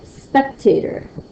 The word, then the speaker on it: spectator: another one all right spectator spectator back here yes but is louder than Tator spectator what is the spectator do there's nothing to do with little tater tots spectators watch something so spectators they would be coming and watching the Olympics and that speck has the first part stressed how about this one